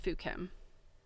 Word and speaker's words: Fukien: I think that the accurate anglicized version of that province is Fukien, and it's pronounced Fukim.